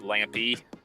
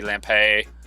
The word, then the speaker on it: Lampe: if officially it's pronounced lampy so lamp with an e on the end but man that i've